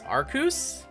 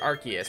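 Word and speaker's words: Arceus: phone and not an ARS phone no it's arus is it arus is that what is that how you're pronouncing that cuz I'm it's pronounced archus because like the in the games like Sy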